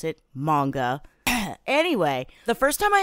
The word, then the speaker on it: manga: I'll pronounce it manga.